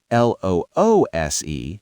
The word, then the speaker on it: loose: These pants are too loose. The screw is loose. It rhymes with goose.